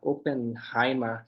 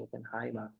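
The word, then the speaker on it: Oppenheimer: palavras como AB trabalho Ah openheimer ficou bem famoso openheimer tem sempre som de a na pronúncia deixa eu ver se tem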